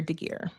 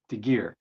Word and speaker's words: Degeare: And how do you pronounce your last name? It's Moraya Seeger Degeare. Degeare.